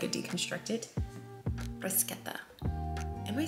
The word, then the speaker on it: bruschetta: It's kind of like a deconstructed bruschetta? Bruschetta? Bruschetta, right? Not bruschetta, bruschetta. I think I learned that it's pronounced that way like last year.